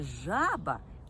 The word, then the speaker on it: жаба: А зараз зверніть увагу у слові жаба перший склад я вимовляю вгучніше жаба тобто я роблю наголос на цьому складі у слові жабеня я